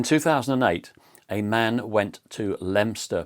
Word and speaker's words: Leominster: In 2008, a man went to Leominster police station, or Leominster as some people pronounce it.